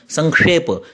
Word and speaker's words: संक्षेप: संक्षेप यह श है, नाति संक्षेप विस्तरम।